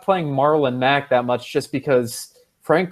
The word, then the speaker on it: Marlon Mack: But before I go on, Rob, did I hear you say Maryland, Mac? I forgot to bring that up. Maryland, Matt. I can't pronounce it right. I've had trouble with that one.